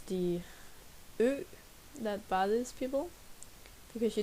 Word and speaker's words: ø: Something like it's the ø that bothers people because you don't have that letter. I thought it was the D. So we're gonna take it another time. Let's pronounce ø. Try say it. Ø.